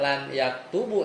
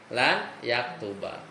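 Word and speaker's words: لَنْ يَكْتُبَ: Jadi kalau yaktubu kemasukan lan, dia bukan dibacanya lan yaktubu, tapi apa? Jadi mansub nih, jadi mansub. Jadi lan yaktuba.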